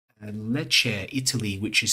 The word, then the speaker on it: Lecce: Keith said it's Lecce, Italy, which is spelled Lecce.